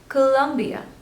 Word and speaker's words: Colombia: next one is Colombia Colombia so there are three stables and you have to stress on the second one Colombia Colombia Colombia Colombia